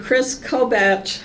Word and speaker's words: Kris Kobach: president Trump created the election integrity Commission and Kris Kobach I believe is how you pronounce it from Kansas it's one of the